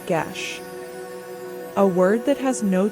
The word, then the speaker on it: geis: In the Ireland of old, there existed something called a Geis, pronounced a gesh, a word that has no true translation in modern tongues.